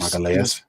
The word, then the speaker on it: Magalhães: Yeah, he's Magalhães.